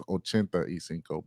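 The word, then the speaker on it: ochenta y cinco: cinco is is that the proper pronunciation of 85 i think is spanish is ochenta isenko but whatever uh ultron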